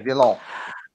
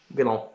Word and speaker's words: Villon: Villon. Villon.